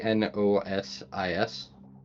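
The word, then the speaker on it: Gnosis: Um, I don't know if I'm pronouncing this right, but Nosis. Yes. G N O S I S. Yep. Nosis.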